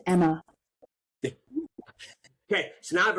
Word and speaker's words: Emma: I wrote back, it's pronounced Emma.